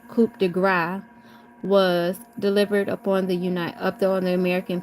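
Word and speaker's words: coup de grâce: The killing blow, the coup de grace, pronounced coup de grace, was delivered upon the American people by Franklin D.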